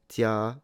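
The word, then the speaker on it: 家: And in Chinese it's pronounced "jia" for stone.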